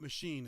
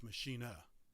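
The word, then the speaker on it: Maschine: called the uh yeah it's German so it's not machine it's Machina Machina yeah was in Spanish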